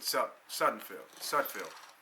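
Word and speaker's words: Sudfeld: I know it's Nate Sudfield.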